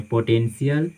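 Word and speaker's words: potential: तो आए आपको ध्यान में रखना है कि जब भी टी के बाद किसी वर्ड में टी के बाद आई ए, आई ई, आई वो आए तो वहाँ पे TIA को सी का साउंड देता है, सी का उच्चारण होता है, TIO को सो का उच्चारण हम करते हैं, और TIE को से का उच्चारण करते हैं। एग्जाम्पल देखिए आपके सामने, पोटेंशियल, रेशियो, पेशेंट।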